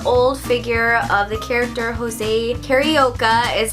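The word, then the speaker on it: José Carioca: It is a super old figure of the character Jose Carioca is how Donald says it. I'm pretty sure because he speaks Portuguese, it's pronounced Jose Carioca, but he is actually one of my very favorite Disney characters.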